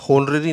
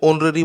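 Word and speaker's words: honorary: होनररी नहीं होता है, इसमें एच जो है ये साइलेंट है, तो इसको ऑनररी बोला जाता है ऐसे।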